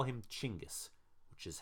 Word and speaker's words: Chinggis: for now know this in Mongolian and most other languages actually his name is pronounced chingus but it has been